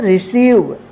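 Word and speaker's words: receive: पढ़ेंगे बिलीव ठीक है तो आप ध्यान रखिएगा कि जब किसी वर्ड में आई ई एक साथ रहे या ई आई एक साथ रहे तो उसका उच्चारण ई होगा ठीक है चलिए नेक्स्ट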